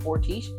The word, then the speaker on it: Fortiche: You pronounce it Fortiche. It's a French animation studio.